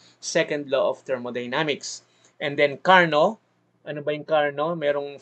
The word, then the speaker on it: Carnot: So may sarili silang bigkas, no, so for the ano lang part of education, ibigkas natin ang tama according to their language, no. Carnot, Sadi Carnot.